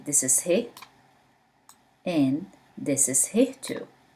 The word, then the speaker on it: ه: He, he, wow, wow, ye, ye. One more time. He, wow, ye. Let's start. He, he. He, from its name pronounced as H in English.